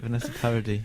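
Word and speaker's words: Vanessa Paradis: uh very is that how you say it Vanessa parody yes yeah what very she was very I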